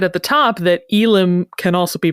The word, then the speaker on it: Ylem: quickly, what I said at the top, that Ylem can also be pronounced Ylem.